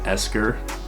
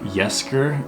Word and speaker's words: Yesker: i didn't really know how to pronounce this it's a yesker it's y-e-s-k-e-r it's a softbox photography